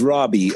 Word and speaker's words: Raabe: us your last name my last name is Robby are a a ve awesome Robbie so apologize for that